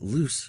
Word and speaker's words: loose: john lose his glasses remember that loose rhymes with goose and lose rhymes with whos yeah so loose right